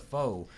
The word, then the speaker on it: pho: Hey, it's pronounced pho, not foe.